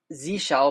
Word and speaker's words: zsh: It's Z shell because I'm on Mac OS, and Z shell is just the default now instead of Bash on modern Macs.